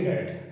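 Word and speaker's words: read: I asked her which class C रेड, रेड क्यों मैंने बोला, क्योंकि पास्ट में तीनों फॉर्म एक जैसी होती है, लेकिन पढ़ते रेड है, लिखते स्पेलिंग वही होती है।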